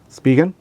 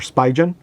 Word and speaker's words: Spigen: your branding right there spigen or spigen or spidgeon whichever way you want to pronounce it still the same thing